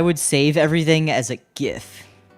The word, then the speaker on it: GIF: save everything as a gif sorry soft G crowd I'm a hard G speaker which was silly back